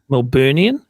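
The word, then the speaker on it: Melburnian: How do you say that? Melbourneian, and that is the right way to say it.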